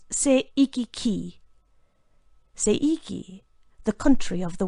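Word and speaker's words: 西域記: The Chinese title is pronounced by Japanese as Seiki-ki.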